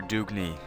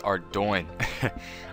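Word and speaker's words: Ardougne: your way over to the bottom of the Ardoin Zoo. And now, one last time. It is not our Dugney. It is not our Dune. It is not our Dugney. It is Ardoin.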